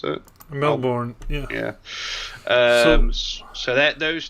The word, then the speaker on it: Melbourne: Is that how you pronounce it? Melbourne, yeah.